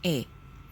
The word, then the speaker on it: 에: Ya, jadi ini dibacanya E.